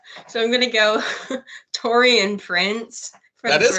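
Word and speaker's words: Taurean Prince: me and Becca so I'm going to go Tori and Prince that is correct that is how you say it torian Prince um we're gonna go Jared Vanderbilt two Jared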